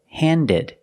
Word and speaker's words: handed: Pronounce the ed, handed.